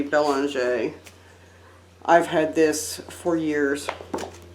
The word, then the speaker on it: Belanger: This is my vampire book from Michelle Belanger, or Bellinger, however you want to say her name. I say Belanger.